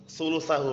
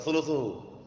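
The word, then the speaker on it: ثُلُثَهُ: Sulusahu bacanya, bukan sulusuhu. Bukan sulusi, sulusahu ngikutin sebelumnya.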